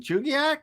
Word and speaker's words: Chugiak: know Molly she's starting in food manufacturing and Chugiak is how you you said wow yeah that